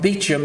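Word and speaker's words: Beauchamp: the philosophers Childress it's pronounced Childress and Tom beat Jim it's pronounced beat Jim even though it's Vibhushan published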